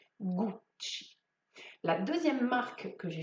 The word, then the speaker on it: Gucci: est en fait le nom de son fondateur guccio gucci witschi il y à 2 c est